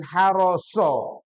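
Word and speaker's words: حرص: Harosa dan haroso. Harosa dan haroso. Kalau A'atha diakhiri A ya. Kalau so diakhiri dengan O. O.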